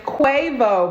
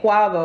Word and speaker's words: Quavo: i understand guys that i was pronouncing quavo well no i didn't care no his name is quavo but i was saying quaggo i thought his name